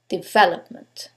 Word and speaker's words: development: In this case, it's the second syllable, development.